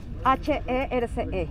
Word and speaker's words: Herce: ¿Cómo se escribe tu apellido? H-E-R-C-E.